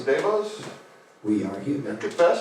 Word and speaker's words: DeVos: Devos, Devos?